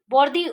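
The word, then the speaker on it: Bourdieu: Rinaldo रोसाल्डो, Stephen Tyler, Pierre बोरूडी, Pierre बोर्दी, बोर्दी pronounce करते हैं, बोरुडी लिखा हुआ है. So what ever you can pronounce according to your convenience you can pronounce.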